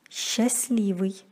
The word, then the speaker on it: счастливый: С-т-л произносится как с-л. Например, счастливый.